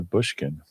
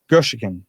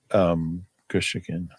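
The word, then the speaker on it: Gushiken: Brandon Johnson, Kapina Gushikin, which I think I'm pronouncing incorrectly. We looked that up last week. Who's Kapina Bushkin? Gushikin. He's the undrafted kid. Oh, yeah. Gushikin.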